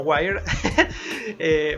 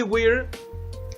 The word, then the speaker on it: Weir: leí de Andy Weir, que yo pronunciaba como Wire, pero ya escuchando entrevistas me di cuenta de que se pronuncia Weir, que es el autor de, ¿cómo se llama?